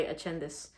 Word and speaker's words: Ascendis: And here we've got Fioria Lux by Ascendis. I think an Italian person told me that it's pronounced Ascendis. So I've been saying it American this whole entire time, which of course I'm American.